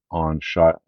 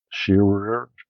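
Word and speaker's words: Shirer: Um, but I guess the International Collectors Library decided to do a two-volume set on Shire. Is that how you pronounce his name? Shearer, William L.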